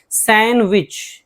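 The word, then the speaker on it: sandwich: सैंडविच, सैंडविच नहीं सैंडविच, D silent है।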